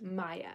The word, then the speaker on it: Maya: adrian or natalie um how do you pronounce my name it's pronounced maya so my uh maya